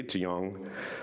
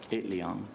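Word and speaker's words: Itliong: migrant worker named Larry iong wrote to National promise when he oh did I pronounce that right it Leong it Leong thank you yeah it was pretty close pretty good A famous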